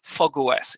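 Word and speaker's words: fog05: eclipse iog and Eclipse fogos it's written fog 05 but it's pronounced fogos essentially the two of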